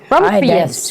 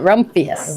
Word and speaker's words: Rumphius: And this one is Here, try to pronounce that. rumpious. Rumphius. I would call it Rumphius.